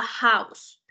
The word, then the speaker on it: house: con an porque a House esa H se pronuncia como una J Entonces es consonante el